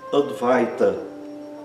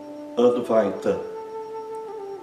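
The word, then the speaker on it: अद्वैत: O ai é pronunciado exatamente como no português, ai. Outro exemplo, advaita, advaita.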